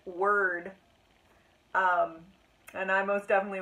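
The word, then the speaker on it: Wyrd: the word it was it was literally w-y-r-d and it apparently it's pronounced word um and I most definitely was pronouncing it weird marks yeah I don't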